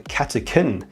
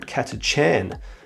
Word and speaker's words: Catachan: for death covers off the katakin not katachan which i thought is the way to pronounce it basically follows them moving